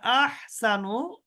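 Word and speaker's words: أحسن: আহসানু, আহসানু, এখানে আহসানু, হা, এখানে হাটা উচ্চারণ করতে হবে সুন্দর করে।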